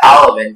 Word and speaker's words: alevin: Alevin is the only pronunciation.